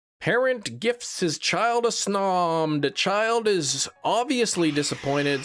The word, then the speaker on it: Snom: You pronounce Snom like gnome, like snome.